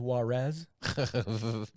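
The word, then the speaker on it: Juárez: I believe it's pronounced Juarez. So get it right.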